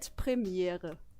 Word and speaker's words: Premiere: question for you sure how do you say World premiere in German it's actually premiere absolutely thank you for